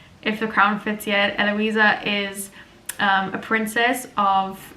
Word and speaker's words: Eloisa: you who are unsure that character's name is pronounced eloisa I know it's spelled funny um I don't know why fantasy authors do this we spell names weird cuz it looks more like Arty but it's spelled e l o i s a um and I don't